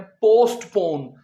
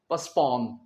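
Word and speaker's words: postpone: पोस्टपोन यह पोस्टपोन नहीं होता इसका प्रोनंसिएशन होता है पसपोन टी इसमें नहीं बोलनी पोस्टपोन नहीं बस पोस्टपोन पोस्टपोन अंग्रेज कभी नहीं बोलेंगे पोस्टपोन वो क्या कहेंगे पोसपोन are they likely to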